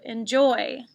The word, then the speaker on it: enjoy: might have tricked you the second syllable is accented on this word enjoy number four y-o-u the